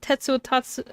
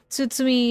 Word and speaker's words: Tsutsumi: Detective Tetsuot. Uh, Tsutsumi himself. Sorry, I said his name wrong.